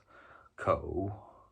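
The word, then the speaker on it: 口: in Mandarin it's pronounced Co which is third tone sorry I just had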